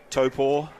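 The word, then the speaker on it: Taupō: So very, very happy to be here at Spa Park in Taupo.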